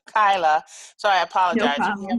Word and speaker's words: Kyla: And I think I may have mispronounced your name in the beginning, called you Kayla instead of Kyla.